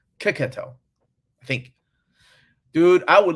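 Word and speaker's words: Checchetto: I think I said Chichetto, and they're like, no, Kiketto, I think.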